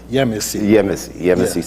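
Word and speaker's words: Yemassee: and so forth, you moved back down to Yemasi. Yeah. Am I pronouncing that right? Yemasi, South Carolina.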